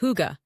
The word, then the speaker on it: hygge: the conditions for what the Danes call hygge, pronounced hygge, a concept of coziness, contentment, and well-being.